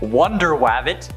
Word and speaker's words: Wonder Wabbit: also features superheroes like Wonder wabbit that's actually how it's said Aqua Duck bat Mouse